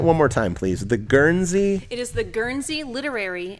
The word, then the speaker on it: Guernsey: The Gurney. The Guernsey. There's an S in it, so it's not there Gurney.